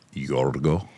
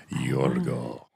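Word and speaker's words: Γιώργο: right yeah do people know that the Greeks pronounce George yorgo yorgo you're not going to like what I'm about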